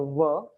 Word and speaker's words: veux: This is pronounced as a ver, just ver, voulons, voulez, and this is val.